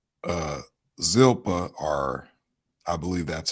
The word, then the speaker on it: Zilpah: sons of billah and with the sons of zilpha uh zilpah are i believe that's how you pronounce it his father's wives and joseph brought